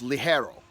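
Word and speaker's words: ligero: so the very top leaf is known as li Harrow right it's pronounced Li Harrow it's spelled Leggero li ger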